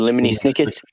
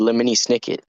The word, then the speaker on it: Lemony Snicket: You know, it's funny that his name rhymes exactly syllable for syllable with Jiminy Cricket.